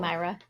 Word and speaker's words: Sumaira: So this part gets kind of funny though, because like Deepak and Sumaira, or however you say her name. That's how they say it in the audiobook. Okay, cool. Sumaira.